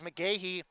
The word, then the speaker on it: McGehee: two Jacob McGehee uh we had him pronounced as McGehee in uh previous broadcast last year uh sophomore number or